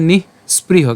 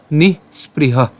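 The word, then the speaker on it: নিঃস্পৃহ: সো উচ্চারণটা কেমন হচ্ছে? নিহ স্প্রিহ। কেন? কারণ এখানে তাহলে বিসর্গ উচ্চারণটাও আপনার যে উষ্ম ছাড়তে হবে সেটাও কিন্তু ক্লিয়ারলি উচ্চারিত হবে। সো উচ্চারণটা কেমন হচ্ছে? নিহ স্প্রিহ।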